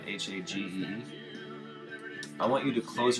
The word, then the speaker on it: Hagee: Hagee, I don't know how to pronounce his name. It's Hagee.